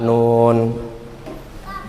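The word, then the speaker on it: نون: coba ayo surah adukhan atau surah alqalam Nun bacanya Nun apa Na Siapa yang yang sampai hari ini bacanya na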